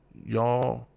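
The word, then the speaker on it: יָלַל: how and it says the pronunciation for the word how is y'all y'all like yodel almost but there's no D y'all well we're y'all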